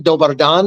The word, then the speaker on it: dobar dan: Dobar dan is how you say it in Serbo-Croatian.